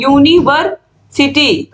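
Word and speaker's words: university: teaches इन ए यूनिवर्सिटी इसका आप देखिए इसका क्या उच्चारण हो रहा है यूनिवर्सिटी तो यूनिवर्सिटी में य आ रहा है य क्या है एक व्यंजन है और इसीलिए यहां पर हम ए लगाएंगे ही टीचेज अ यूनिवर्सिटी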